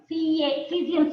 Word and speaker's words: caesium: Cesium spelling. C-A-E-S-I-U-M. Cesium. Okay, ma'am. A is silent.